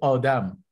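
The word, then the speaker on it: آدم: In Persian, it's pronounced as Adam, means human beings.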